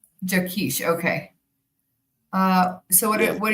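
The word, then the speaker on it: Jaquish: How do you say his name? Um, Dr. John Jakish. Jakkesh.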